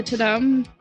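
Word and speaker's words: Tudum: you guys see the tadam um i assume it's pronounced to them the t-u-d-u-m live event um netflix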